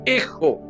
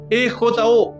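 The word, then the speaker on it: ἔχω: Y esa palabrita retén es un verbo griego que se pronuncia ejo, E-J-O, ejo, y significa tener, conservar y mantener continuamente.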